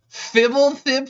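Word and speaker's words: Fblthp: back at the end of turn got him fibble thip for the win you say fibble thip for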